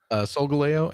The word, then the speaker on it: Solgaleo: Can I at least ask, did I pronounce those two names correctly? Solgaleo and Lunala, yes.